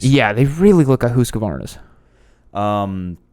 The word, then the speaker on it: Husqvarna: look at husqvarnas um i like the the emphasis on the husk i have to say it right for all the the husky synths out there as a guy who owns one now but uh the big